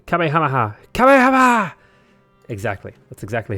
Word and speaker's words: Kamehameha: The way potato pronounced Kamehameha. Kamehameha!